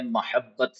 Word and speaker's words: محبت: مثال کے طور پر لفظ ہے محبت، میم کے اوپر فتحہ ہے۔ اب اگرچہ یہ میم